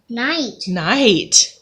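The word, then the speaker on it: knight: that say hey no one actually is a silent K night-night good job you know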